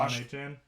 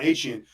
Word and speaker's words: Achane: I believe you had him on fantasy, Devin Devon Osh, Achan? Devon Achane.